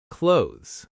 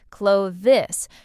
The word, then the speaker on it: clothes: A lot of learners say every sound clearly, clo-this, but native speakers often blend it into something closer to clothes.